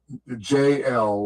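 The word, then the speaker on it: Jel: JL JL like uh like the initials JL, but it's spelled J E L.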